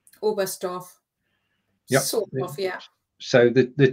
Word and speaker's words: Oberstdorf: a small point here the t is silent isn't it all best off yeah so the the